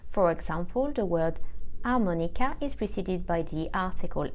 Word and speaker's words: harmonica: H we call silent when the H is silent you don't hear it at all and in front of